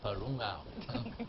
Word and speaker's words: Parungao: I'm so happy I can pronounce this name well, Parungao. Is it right, Juno? Yes.